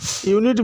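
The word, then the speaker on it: unit: करेंगे ए university यूनिट यूनिट भी या के साउंड से प्रारंभ हो रहा है तो आर्टिकल ए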